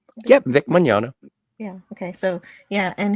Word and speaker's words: Magnano: Yep, Vic Magnano.